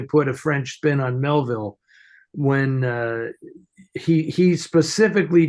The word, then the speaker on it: Melville: I always pronounced it Melville because he named himself after the author Melville right the American author Melville but I've heard people pronounce it m m and I just think no it's Melville because he named himself